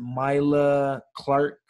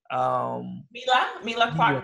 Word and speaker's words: Mila Clark: you had, I don't want to pronounce her name wrong. Is it Myla Clark? Mila Clark Buckley.